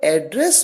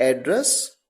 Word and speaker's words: address: Noun use किया जाएगा तो आप इसे प्रोनाउंस करेंगे एड्रेस, जिसका मतलब है पता, और जब इसे एज अ वर्ब प्रोनाउंस किया जाएगा तो इसे प्रोनाउंस करेंगे एड्रेस, जिसका मतलब है संबोधित करना। हाउ डू आई एड्रेस यू, यानी